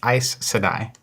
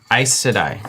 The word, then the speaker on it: Aes Sedai: Nathan Bradley's saying it's pronounced Aes Sedai. Aes Sedai.